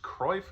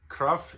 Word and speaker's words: Cruyff: his last name pronounced kreif but that's kind of more English way of pronouncing it cruff is towards the Dutch way of saying it my language isn't that